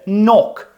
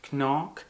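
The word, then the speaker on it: knock: І будь ласка, не пробуйте робити іноді, коли ми сумніваємося, ми начебто цю кей дуже м'якою робимо, щоб не помилитись. типу кнок. Ні, чітко немає цієї літери взагалі в транскрипції.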